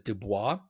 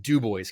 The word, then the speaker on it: Dubois: Jasper Indiana the tiny ass small town in Dubois County where I'm from yes anyone listening to this who speaks French is like I'm pretty sure that word is Dubois yes but when the French Indiana and the